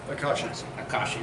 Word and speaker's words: Akashi: uh how do you say that name again akashi there you go um so if you liked